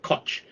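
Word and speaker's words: Kocs: was a village named koch okay it's spelled k o c k k-o-c-s is pronounced koch this village produced the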